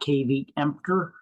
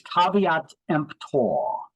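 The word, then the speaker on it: caveat emptor: t let the buyer beware that's how you pronounce that it's not KV empor it's caveat empor it's it's Latin it means let the buyer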